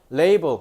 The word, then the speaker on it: label: 아이폰 같은 경우는 레이블 레이블이 뭐예요? 라벨지. 너네 그 라벨지 알지? 그게 레이블의 콩글리시 발음이에요. 알겠죠? 자, 레이블.